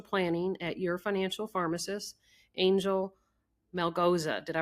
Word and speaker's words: Angel Melgoza: Um, first I'd like to introduce our guest who is the director of financial planning at your financial pharmacist, Angel Mel Goza. Did I pronounce that all right, Angel?